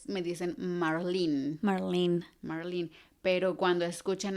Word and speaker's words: Marlene: Y Ah, yo, Marlene, en México se pronuncia Marlene, aquí Marlene.